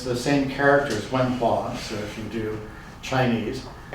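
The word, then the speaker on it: 文化: So if we go to China, the term that they chose, and it's the same characters, wen hua, so if you do Chinese, you've got two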